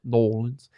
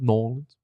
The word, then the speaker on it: New Orleans: And yes, I will be pronouncing it New Orleans going forward. It's all one word, New Orleans.